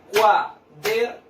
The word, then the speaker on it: cuaderno: Cuaderno. ¿Dónde cargo yo la voz? En la sílaba der.